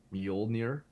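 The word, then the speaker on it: Mjolnir: And also I remember in the theaters watching um uh oh, how do you pronounce Thor's Hammer's name again? Muolnir.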